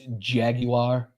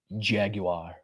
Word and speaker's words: Jaguar: And by the way, it's Jaguar. If you're going to say it right, please. Jaguar.